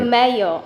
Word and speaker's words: Romeo: I always pronounce his name wrong. Romero, right? Romeo. Romeo, okay. Romeo. I thought it was, yeah, okay. I thought it was Romeo at first.